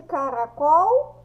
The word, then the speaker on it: caracol: Qual é a sílaba mais forte de caracol? A sílaba mais forte é o col. Por quê? Porque quando eu pronuncio, o som do col é o mais forte.